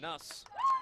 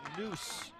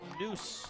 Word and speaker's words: Nuss: first number 14 tessa nuss or it's sorry tessa noose spells it n-u-s-s but you pronounce it noose like a double o all right one out